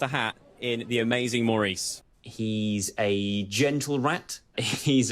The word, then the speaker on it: Maurice: for centuries to come how many times it's Maurice Maurice how did you pronounce Maurice you pronounce Maurice like this you do not pronounce it morce Maurice is a intellectual highbrow pretentious Frenchman he's